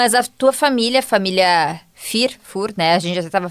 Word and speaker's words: Führ: A gente até tava falando antes, é, sobre a pronúncia do sobrenome, né, que é tem, para quem é da região sabe, né, tem o U com a o trema, né? Então, é o fir fur, mas tu acaba sendo